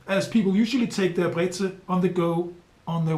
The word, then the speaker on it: Brezel: The most famous bread article in Bavaria would be the pretzel, or Brezel, as the locals say.